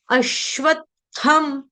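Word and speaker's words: अश्वत्थम्: आघात का मतलब यह होता है कि आपको जहां पर आघात लगा होगा ना उसके बाद क्या आधा जैसे श ये जो वर्ड है ना आपका श्व श्व श्व ये बना है आपका आधा श और पूर्ण व के साथ वो बनेगा श्व श्व श्व अश्व अश्व तो उसमें आपको श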